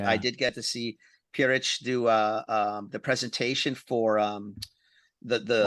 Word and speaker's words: Pierrich: Pierrich, Peter, Pierre.